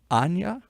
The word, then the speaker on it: Aine: your name because it's it's spelled one way but in the Irish it's pronounced another way and I'll see if I can even tackle it is it ana ana that will do